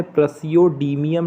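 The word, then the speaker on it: Praseodymium: एक चीज़ और, एक बच्चा कह रहा था कि इनके नाम पढ़ दीजिएगा, थोड़ा सा प्रोनाउंसिएट करने में दिक्कत हो रही है, तो ध्यान से सुनिए। देखिए, सीरियम नाम है, प्रसियोडीमियम नाम है, नियोडीमियम, प्रोमेथियम, samarium, europium, गोडेलिनियम, terbium,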